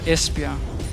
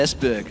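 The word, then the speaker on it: Esbjerg: town in uh your beautiful beloved Denmark ah espia there you go es yeah it was actually one is that how you pronounced it I I said esber I do es esia there we go today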